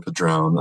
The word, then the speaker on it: Padrón: So my name is Ron Padrón, Reverend Ron Padrón, he and pronouns, and I